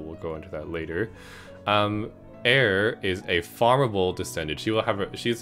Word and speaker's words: Eir: I think it's spelled E-I-R. I'm pretty sure you pronounced that Air.